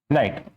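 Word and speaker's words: knight: रिक्स का मतलब यो एक और होता है नाइट ये नाइट पढ़ा जाता है के इसमें ए यूज होता है प्रीफिक्स प्रीफिक्स के साइलेंट होता है यहां पे के का मतलब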